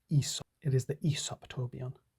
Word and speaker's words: Aesop: It's pronounced Aesop.